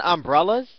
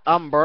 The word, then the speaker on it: umbrella: to ask you to learn how to say the word properly its umbrella not ambarella and there's no ella